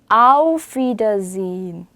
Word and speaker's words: Auf Wiedersehen: 나중에 배우겠지만 S 다음에 모음이 나오면 Z 발음이 나요. Z 발음. 그래서 sehen 아니고 sehen이라고 있는데 이게 또 묵음되는 거 아시죠? sehen 아니죠? 그래서 auf Wiedersehen이라고 읽으셔야 돼요.